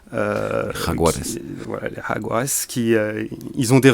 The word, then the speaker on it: Jaguares: Là, on voit par les résultats de leur province qui sont les Jaguars, vous m'excuserez pour la prononciation. Jaguares.